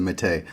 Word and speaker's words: Métis: Pronounced Métis.